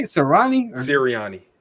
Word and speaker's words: Sirianni: So, in the spirit of our crazy new coach, Nick Sirianni, is that how you say it? Sirianni? Or Sirianni. Siri, like Siri, huh? Sirianni. Like Siri.